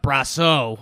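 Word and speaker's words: Brosseau: they called up guys like Nate Lo and brass oh I'll finally say it right and in the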